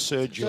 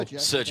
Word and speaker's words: Sergio: Sergio that's how you say it, by the way. It's Sergio. Sergio. Yeah, Sergio. It's easy for me to remember because that's half of my name.